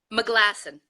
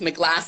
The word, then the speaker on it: McGlashan: have her regularly I'm tell me how you pronounce your last name McGlashan McGlashan you know I've always mispronounce it so it's my glass another my glasses yeah I know you